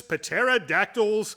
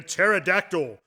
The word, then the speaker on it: pterodactyl: Terror of the dreaded pterodactyl one might even say that what the p is silent is that because you